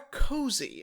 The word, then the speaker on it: Koozie: the brand name or a cozy which I've often heard people say I I think Koozie is correct in terms of pronunciation I think Koo but Koozie itself is a derivation of cozy like T cozy sure yes exactly sure